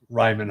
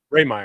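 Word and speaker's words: Rehmeyer: murders or the um Ryman Hall yeah did I just say it wrong Ray Meer said Ray Meer yeah I said Ryman yeah the theater and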